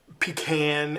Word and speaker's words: pecan: had to serve was pecan pie. Now, I realize that even here in America that pecan and pecan are pronunciations that are going to be based on where you're from in America.